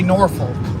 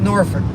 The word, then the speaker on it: Norfolk: people don't live there say Norfolk it's funny how people live around the area call it Norfolk or Norfolk just like Louisville and Louisville like people live near